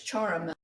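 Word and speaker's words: Ciaramella: Okay, so I'm being told that I didn't say it right. It's charamella, an Italian word that means like musical instrument.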